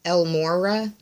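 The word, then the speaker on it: El Morya: with the ascended Master El Mora Elmora I believe is how it's pronounced and it deals with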